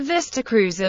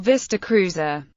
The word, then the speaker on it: Vista Cruiser: inside the Vista Cruiser the show's pronunciation of vista cruiser with emphasis on cruiser conflicted with the pronunciation of author George Plimpton in the Oldsmobile television advertisement for the nineteen sixty-nine Vista Cruiser where he pronounced the two words with the emphasis on vista that particular station wagon